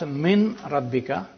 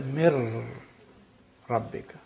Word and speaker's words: min rabbika: So you don't pronounce min rabbika, you say mir rabbika.